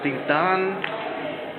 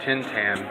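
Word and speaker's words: Tin Tan: So Tintan, or as Americans would say it, Tintan, which is how it's spelled, he was a very famous Mexican actor.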